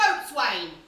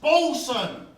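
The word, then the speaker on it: boatswain: pirate no more I want to be a boat Swain it's not pronounced bolwing you bumbling Buccaneer it's pronounced bson when you're a really tough pirate you're always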